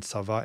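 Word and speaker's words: צוה: Whenever you see a vav in tsava, anything to do with command, the verb, or the noun, it's always consonantal. You pronounce it, you're going to hear that vav.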